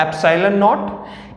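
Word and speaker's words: epsilon naught: आप प्लीज इस पे ध्यान दीजिएगा, मैं इसको क्या प्रनाउंस कर रहा हूं, एप्साइलन नॉट।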